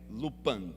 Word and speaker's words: Lupin: Carla e eu assistimos uma série chamada lupan se escreve looping mas a pronúncia é lupan e nessa série o